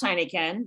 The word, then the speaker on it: Heinichen: And her last name is pronounced Heinichen. No, it's not spelled like the beer.